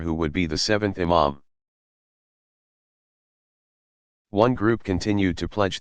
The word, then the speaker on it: Imam: Among the principal features that distinguish Shi'i from Sunni tradition is the belief that a legitimate successor to leadership, called Imam, pronounced Imam, must be designated by his predecessor and belong to the family of the Prophet.